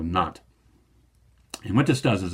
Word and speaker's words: Nantes: In French, the only letters you pronounce at the end of a word are C, R, F, and L. So Edict of Nantes.